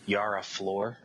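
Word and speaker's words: Yara Flor: though I mispronounced her name it was I mispronounced her name last time we spoke about it but it's a Yara floor okay floor I mean I'm interested in reading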